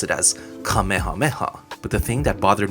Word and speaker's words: Kamehameha: I can't remember which character said it, but somebody pronounced Kamehameha as Kamehameha. If you said Kamehameha in school, you'd actually get yelled at because you have to pronounce it as Kamehameha.